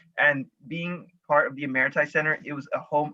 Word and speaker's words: Emeriti: I tried to pronounce it and it was Emirati, which often people go for it.